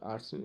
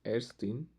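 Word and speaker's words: Ärztin: इट्स नॉट आर्स्टीन, actually it's एर्स्टीन, एर्स्टीन, एर्स्टीन। This one ए उमलाउट is pronounce as ए, मैंने आपको पहले बोला था कि ए उमलाउट है मेरा, वो प्रोनाउंस होगा एज ए, जबकि नॉर्मल ए है वो प्रोनाउंस होगा एज आ, ठीक।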